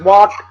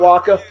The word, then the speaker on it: Walke: That's Walk, not Walkie, not Walker. The E is silent.